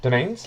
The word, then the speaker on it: demesnes: where with their different demesnes demesnes domains domain is that how you pronounce that yeah domains yep oh that's where the